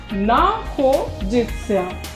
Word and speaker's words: находится: Stress is on O. находится.